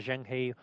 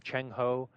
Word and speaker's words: Zheng He: Some report, depending on how you want to pronounce the name, either Zheng He or Cheng Ho, you hear all of these names given to him.